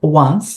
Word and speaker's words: once: posso dizer tanto Once Olha só pronúncia Once a gente vai começar com mesma pronúncia do One do número tá então Once é uma